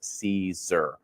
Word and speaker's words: Siser: Now, for us here at Siser, again, it might be foreign to some of you there, but it is pronounced Siser.